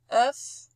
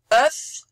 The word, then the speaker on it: œuf: Voilà notre O E bouclé U qui se prononce E. On dit pas œuf, on dit pas sœur, on dit pas cœur, on dit cœur, sœur, œuf. C'est un E ouvert.